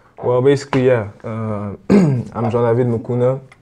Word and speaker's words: Mukuna: how do you say your last name mucuna mucuna where is that from it's from Congo actually